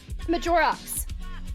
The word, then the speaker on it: Majorox: Majorox with the X's. Okay. Pronounced like Majora's Mask.